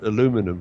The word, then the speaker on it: aluminum: I'll give it the American pronunciation. We Brits normally say aluminium, but I guess Field has always given me trouble. So since you're in New York, I'll call it aluminum, right?